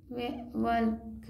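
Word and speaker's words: walk: आगे बढ़ जैसे कि वक वक एल तो पढ़ना ही नहीं है वक हो गया अरे एल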